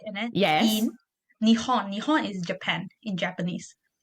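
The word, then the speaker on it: 日本: And then in Nihon Nihon is Japan in Japanese. Oh, Nihon. I always thought it was Nipon.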